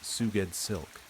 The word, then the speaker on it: SgoueddsLk: SgoueddsLk, pronounced Suged Silk.